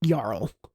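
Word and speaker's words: Jarl: That technically that would be pronounced Yar like Yarl.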